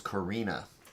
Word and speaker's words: Karina: It is Karina. Rhymes with Mina.